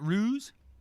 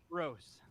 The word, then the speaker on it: Rose: Is it Ruse? Rose. Rose. Like row your boat?